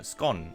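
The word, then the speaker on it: Skåne: need norway and denmark excluding scania here uh scone i believe it's print pronounced actually and you also need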